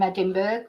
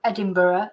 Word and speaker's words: Edinburgh: a few students from Edinburg the um Edinburgh as I should say Edinburg I'm pronouncing it in the Spanish way so yeah I've got